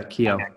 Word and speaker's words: Kiyo: up, and I love what you're doing with Kiyo and what you're doing with supporting people in their regular practices of always questioning themselves. Is that how you pronounce it? Huh? It is. You nailed it. Yeah, Kiyo.